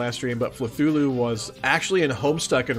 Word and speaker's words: Fluthlu: It's Fluthlu. Oh, it's pronounced Fluthlu? Okay. Alright. Well, I may still accidentally pronounce it Fluthulu, just cause Cthulhu, but I will try to pronounce it correctly.